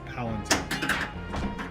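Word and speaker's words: palantír: Palunteer. That's his like name. It's Palenteer.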